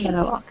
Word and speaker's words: catalog: Catalog, it actually almost sounds more like a D because it's in the middle of a word. Catalog. Catalog. Okay, catalog. Just in American, catalog. In the accent, it sounds more like a D in the middle there.